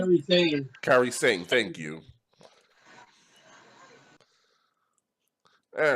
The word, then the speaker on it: Sane: How do you pronounce her last name? Kairi Sane.